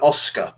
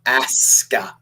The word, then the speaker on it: Asuka: You're calling her Oscar. Yeah. Asuka. It's a different name. But it's just pronounced the same way, Oscar. No, it's not. Because it's a Japanese name.